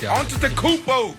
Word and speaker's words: Antetokounmpo: Oh, Antetokounmpo.